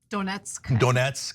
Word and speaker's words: Donetsk: Trump pushed back apparently on part of Donetsk. I don't know how to pronounce this, sorry, okay? And so. Donetsk, yes.